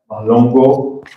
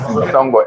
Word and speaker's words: Mhlongo: My name is Mhlongo, so I won't blame him for the pronunciation of my surname. It's Mhlongo, M-H-L-O-N-G-O.